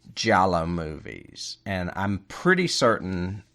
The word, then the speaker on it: giallo: Gelato? No. It's spelled Giallo, Giallo, and it's the Italian word for yellow.